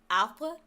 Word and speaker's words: arbre: So the word is arbre. Arbre. That's how you say that. And it's got two R's in it. It's spelled A-R-B-R-E. And it's pronounced arbre.